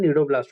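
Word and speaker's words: cnidoblast: एक इसका pronunciation नीडोब्लास्ट होता है।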